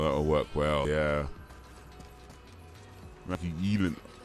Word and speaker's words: Gyllenhaal: Maggie Gyllenhaal. I think that can work. Well, that'll work well, yeah. Maggie Gyllenhaal, or Gyllenhaal, that's how it's actually pronounced. I think that's how it's pronounced. It's a Swedish name.